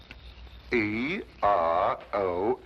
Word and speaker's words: Eros: She added an H where there shouldn't have been one. What? Then spell it as she spelled it, but without the H. E-R-O-S.